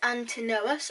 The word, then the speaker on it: Antinous: lover of emperor adrian antonus pronounced antanos ah the beloved favorite